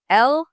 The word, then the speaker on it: LLMs.txt: It's LLMs.txt. So 2 L sounds at the start.